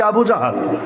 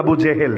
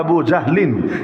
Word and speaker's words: আবু জাহল: এমনকি আবু জাহাল, যাকে বলা হয় উম্মতের ফেরাউন, আপনারা অনেকে নামটা বলেন আবু জেহেল, জেহেল মূল উচ্চারণ হলো আবু জাহলিন, এটা বলা তো জটিল, সংক্ষেপে আবু জাহাল, আবু জাহাল এটা বলতে পারেন।